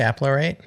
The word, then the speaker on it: Apparate: And then BMC picked Applerate. Is that how you pronounce that one, Matthew? Apparate.